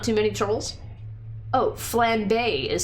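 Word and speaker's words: flambé: Oh, flambe is how it's pronounced.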